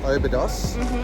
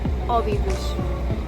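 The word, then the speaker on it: Óbidos: Okay, and if we keep calling this place Obidos, how do we pronounce it properly? Obidos.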